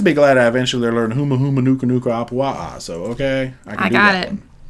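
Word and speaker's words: Humuhumunukunukuāpuaʻa: The first few vlogs, I said Huma Huma Nuka Nuka, which is not correct.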